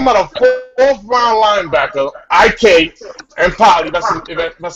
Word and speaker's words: IK Enemkpali: know we talking about a fourth round linebacker ik and P that's that's how you say his name goes